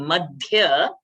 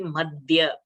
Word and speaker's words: मध्य: Also while saying Madhya, let it not be Madhya. Madhya.